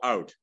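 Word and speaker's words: Aut: this little temple in a place called Out, A-U-T, it's spelled.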